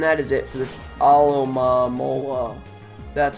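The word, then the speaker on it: Alomomola: And that is it for this Alomamola. That's how you pronounce it.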